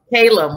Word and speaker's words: Calum: today please correct me am i pronouncing your name correctly yeah it's caleb yeah caleb wonderful nice to have